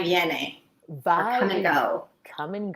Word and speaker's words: Viene: Did I pronounce Viene, it? yes. Viene.